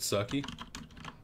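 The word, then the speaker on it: Kirke: It's pronounced Kirk, he says. Because Kirby.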